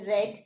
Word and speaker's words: read: The word read, the base verb read is pronounced as read in the past tense.